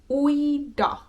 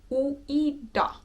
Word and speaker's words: uida: We'll just be practicing also with the word uida, which means to swim. Uida, ui, ui, ui, ui, ui, ui, ui, uida, uida, uida, uida.